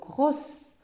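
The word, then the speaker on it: gros: بحال غرو عندنا الفيمينين ديالو غروس، ولكن في الماسكولين ديالو في المذكر ديالو غرو ما كتنطقش لينا اس.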